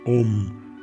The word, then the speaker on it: om: soy el canto religioso om se pronuncia igual que la unidad de medida de eléctrica o para mantener el